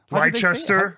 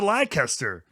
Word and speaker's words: Leicester: And second of all, thank you for pronouncing Leicester City correctly. Wait, how do people say it? How did they say it? Leicester or whatever. No, oh, Yeah, I've heard people call it Leicester. That Americans, yeah. I No. learned That's awful. in wrestling, Thank you yeah. for pronouncing it correctly, gentlemen.